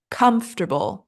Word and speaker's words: comfortable: all properly so the first one is comfortable comfortable stress on first syllable our second word was